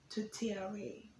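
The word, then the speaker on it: tourtière: okay and then number nine to cheer ring to tre which looks like this okay and it's spelled t o u r t i e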